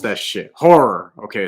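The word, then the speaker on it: HO99O9: Horror. Okay, it's pronounced horror. He's from Newark.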